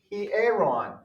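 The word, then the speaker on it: ἱερόν: next word he aeron notice it's got a rough breathing mark over it guys and notice that you've got two vowels together but that's not one of the diphthongs so you actually pronounce these separately means temple temple all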